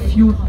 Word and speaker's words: fjord: Mais on part du principe qu'on dit fjord, le O on va le prononcer plutôt comme un OU.